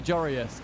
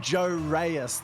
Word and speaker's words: Joris: Sorry, Jorius. God, I slipped back into my old pronunciation. From Jorius. No, you used to call him Joe Reyes.